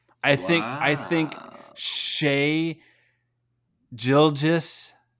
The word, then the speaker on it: Gilgeous: think I think Shea gildges because there's no R in there I'm trying to pronounce